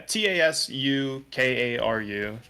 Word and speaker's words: Tasukaru: Yeah, TASUKARU. But I devoiced the U in Sue because that's the more localized pronunciation, or more naturalized pronunciation.